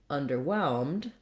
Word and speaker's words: underwhelmed: stress is going to be on that first syllable. Over, long, short, or under, long, short. In underwhelmed, both the word under doesn't really get that